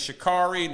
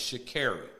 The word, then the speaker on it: Sha'Carri: Because I remember, because she said it, we say her name is Sha'carri. No, it's Sha'carri.